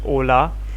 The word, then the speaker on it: hola: i didn't know that ola and hola are the similar things which is pronounced at ola but so i used